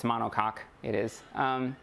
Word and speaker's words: monocoque: So what's more common is this, I had to look up the pronunciation of it, but it's monocoque, it is, and it's semi-monocoque.